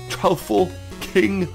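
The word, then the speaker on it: Troupple King: of the trle king half trout and half half Apple pronounced like mouthful tful King he's one of the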